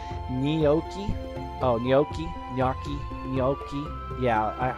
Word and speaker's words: gnocchi: It's like gnocchi. Oh, gnocchi. Gnocchi. Gnocchi. Yeah, I know what you're talking about, Gargaduke. But gnocchi is the way that us Americans, us dumb Americans, pronounce it.